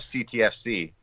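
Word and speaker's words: CTFxC: So I always say X is silent. So when I meet some people and they don't really know what's going on, they're like, oh, I love CTFC.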